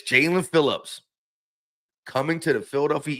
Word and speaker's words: Jaelan: It's spelt like it's almost it's spelt like it would be pronounced Jelene, but it's Jaylen Phillips coming to the Philadelphia Eagles again.